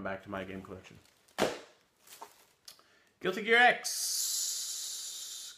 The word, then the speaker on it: Guilty Gear X: to my game collection Guilty Gear X Guilty Gear Z is how it's pronounced in Japanese I don't know why